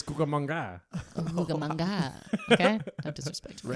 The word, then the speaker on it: Cucamonga: I didn't think you could pronounce it. It's Cucamonga.